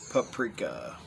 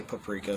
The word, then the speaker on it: paprika: Paprika. Yeah, I say paprika. Some people say paprika.